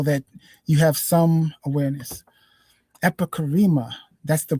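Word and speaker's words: epicheirema: Epicarema. That's the pronunciation of that.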